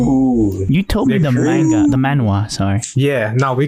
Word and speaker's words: manhwa: Ooh, you told me the manhwa, sorry. Yeah, no, we call it manga because manhwa is really hard to pronounce. It's a W instead of a G.